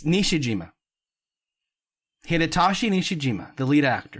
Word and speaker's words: Nishijima: Nishijima, not Niwajima. Iwajima. No, not that. Nishijima. Okay. Not Iwo Jima. That's I think that's Vietnam. It's not. Let's not get there. Okay. It's Nishijima.